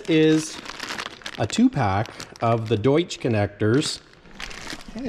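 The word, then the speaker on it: Deutsch: And this is a 2-pack of the Doiche connectors. I said it right that time. And so to put these on, I borrowed this tool from work, and this is the Doiche connector crimper.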